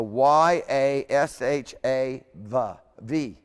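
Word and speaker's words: יָשַׁב: So it's a Y-A-S-H-A, V, okay?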